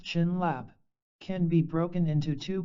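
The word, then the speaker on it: བྱིན་རླབས: is what blessing means the Tibetan word for blessing by an rap pronounced chin laap can be broken into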